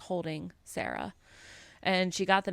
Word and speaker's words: Cera: And my mom's like, oh, well, there's a little girl dinosaur called Sarah. It's spelled Cera because she's a triceratops.